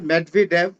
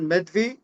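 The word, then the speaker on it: Медведев: এটা দুই ভাবে উচ্চারণ হয় মেদভি। অথবা আপনি যদি রাসায়ান উচ্চারণ করেন মেভি।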